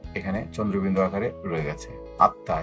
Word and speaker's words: আত্মা: আত্মা, এখানে মোটা উচ্চারণ হয়নি, এখানে চন্দ্রবিন্দু আকারে মোটা রয়ে গেছে।